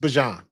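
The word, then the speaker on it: Bijan: And I think this is Michael Pennix and and Bjan or Bjon. He said it. His name is pronounced Bjan.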